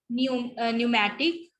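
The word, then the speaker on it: pneumatic: सो P is silent in the initial position और specially जब वो P जो है N के साथ आएगा या फिर एस के साथ आएगा. ठीक है.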